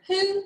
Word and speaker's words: who: And you would probably expect this letter to be pronounced O, but it's pronounced oo, like in to or do. So when you read this word who, you have to remember